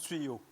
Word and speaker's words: Tuot: Ça tuo tuyo tuot tuyot tuot je pense que ça se prononce tuyau.